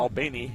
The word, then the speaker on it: Albany: Albany, and I have family from down there, so I have to say it right.